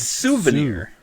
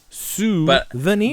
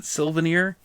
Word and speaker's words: souvenir: It's souvenir. Souvenir. But for whatever reason, it's just one of those words that I think my mother also pronounces it Sylvanir.